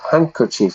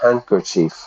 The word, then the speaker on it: handkerchief: to the missing handkerchief handkerchief listen to the pronunciation there handkerchief I don't say handkerchief handkerchief we dropped the D we dropped a d